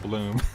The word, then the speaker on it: Blum: But he's Steve Bloom. But it's spelled Guys, the we same.